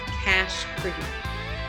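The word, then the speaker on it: Cache Creek: those places is called cash creek and it's cash the way it's spelled for like a squirrel nut cash case okay just it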